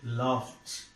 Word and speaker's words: laughed: This ed is pronounced as t. Laughed.